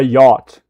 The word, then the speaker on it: yacht: And you ignore the ch. A yacht. Like this. Yacht.